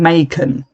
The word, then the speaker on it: Macon: But to my limey opinion, that is still a S sound.